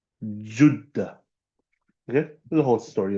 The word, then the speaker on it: Jeddah: We say Jeddah. The proper pronunciation from the time of the old Arabs is Juddah. Juddah.